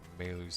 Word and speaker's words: Maylu: This one's Yai up here, so Maylu's down here. That's right. So it's written in this game, Mayl. Proper pronunciation, or really, in Japanese it's Maylu.